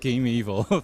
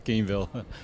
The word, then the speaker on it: Gamevil: Is that how you pronounce it, right? Not Gameevil. Not evil. Yeah, it's Gamevil.